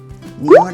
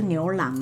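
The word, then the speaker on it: 牛腩: 条，好 OK，牛腩啦，牛腩，不是牛郎啦，是牛腩。腩哦，牛腩，发音要正确。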